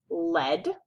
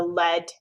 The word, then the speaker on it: lead: Or you can say this word with a long E sound, and it would be lead, like you are the like you are leading the line. You are the lead, the leader.